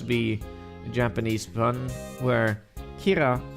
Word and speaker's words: Kira: the Japanese bun where Kira is is like pronounced the same way as killer as in super good